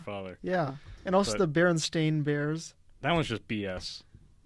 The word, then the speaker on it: Berenstain: yeah and also the Berenstain Bears that was just BS even even though most people just say Berenstein yeah which which makes people just think it's bit it's spelled that way yeah then but then